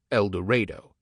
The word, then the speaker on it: El Dorado: A stranger in El Dorado, pronounced El Dorado, feels uneasy, as in any small town where everybody knows everybody, and an out-of-state license plate provokes stares.